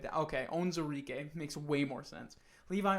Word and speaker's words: Onwuzurike: That's how I've heard it pronounced. Onwuzurike. That's what it is. I have it spelled wrong here. I did it with a W instead of a Z. Okay, Onwuzurike makes way more sense.